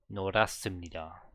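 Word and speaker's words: 노랗습니다: H followed by S. Where's the S there? Oh, double S. Okay. So norastimnida. Norastimnida.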